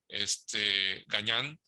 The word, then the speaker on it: Gagnan: Y lo que hizo Jacques Cousteau junto con otro ingeniero, el ingeniero Gagnan, así se pronunciaba, lo que posibilitó fue